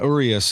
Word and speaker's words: Urias: Yeah, Urias is how I pronounce Urias.